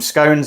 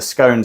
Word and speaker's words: scone: the pronunciation of this it's either scones or scon I'm in the scones Camp fight me on the